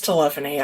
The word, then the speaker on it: telephony: yeah yeah company yeah i said telephony it's telephony i'm sorry you just put the wrong syllable in the wrong place yeah exactly that's okay